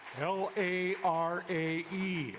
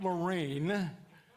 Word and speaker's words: Larae: L-A-R-A-E. It's not Lorraine, it's Larae, like a sunshine.